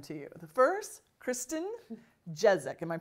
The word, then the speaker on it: Jezak: The first, Christin Jezak. Am I pronouncing it right? Jezak.